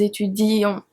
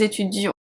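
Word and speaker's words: étudiions: with nous and vous, we have a double E. It's very important for the spelling, but we don't really pronounce it. We don't really say nous étudions. We don't say that. We say nous étudions. so it's purely for spelling.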